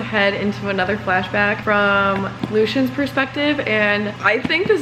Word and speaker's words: Lucian: the audiobook realized that his name is pronounced Lucian which means I've been saying the wrong name for about two and